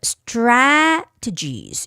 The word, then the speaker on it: strategies: Okay, Teiji, A, the first A where the stress is, it's a long A vowel sound. So it's stra. You have to open up your mouth a lot, stra. But strategies, you have to quickly pull your mouth forward. Strategies, strategies, strategies, strategies.